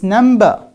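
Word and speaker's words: number: And you said if we have ba sound preceded by ma sound, then it becomes silent. And now here we pronounce it. What's the story? You forgot part of the story. And I told you, these are not at the end of the word. These are in the middle of the word.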